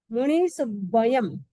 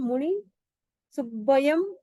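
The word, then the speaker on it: मुणिसुव्वयं: च मल्लिम वंदे वंदे मुनि सुब्बयम डबल व है मुनि छोटा है मुनि सुब्बयम मुनि सुब्बयम मुनि सुब्बयम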